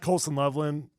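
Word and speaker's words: Colston Loveland: I like Colson Loveland. Did I say his name wrong last time? No, you got it. Well, you got it there.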